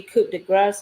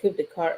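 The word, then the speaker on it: Coup de Grâce: the death of Slim Shady, Coup de Grace. I actually had said it wrong earlier. I said Coup de Carte.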